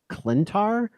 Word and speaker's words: Klyntar: i'm pronouncing this correctly it's like klyntar starts with a k wow i did not